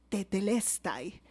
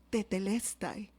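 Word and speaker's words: τετέλεσται: Jesús no dijo dos palabras, dijo una sola palabra: tetelestai. ¿La puedes repetir conmigo? Tetelestai. ¿La repetimos? Tetelestai, ¿sí? Nosotros la traducimos en nuestro español como consumado es, pero tetelestai, esta palabra tenía tres usos en la época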